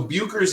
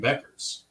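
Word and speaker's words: Bueckers: us to pronounce it Paige buers buers so buers is the correct pronunciation according to google B yo o- krz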